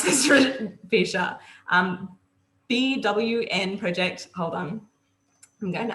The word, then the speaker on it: BWN Project: the founder of the Big, how do I pronounce this, Fisha? BWN Project, hold on. I'm going to unmute you right now. BWN Project.